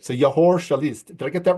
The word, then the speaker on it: Yehor Shelest: I was going to ask him how he pronounces his name, but I think I got it right. So Yehor Shelest.